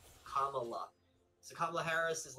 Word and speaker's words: Kamala: And she by the way, on like page 1, she's like, it's pronounced Kamala, like the pronunciation. Kamala.